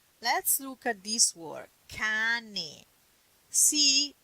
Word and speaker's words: cane: Let's look at this word, cane. See, you pronunciate ka because the a is a strong vowel. Here it is. A is strong. That's why you say ka.